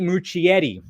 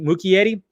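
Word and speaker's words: Muschietti: book crossovers directed by Andy much Yeti which I always say his name wrong right M Muki Yeti the filmmaker behind the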